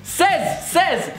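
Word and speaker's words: seize: Says, 16. I can say something. Says, it's like seizure, but without the je.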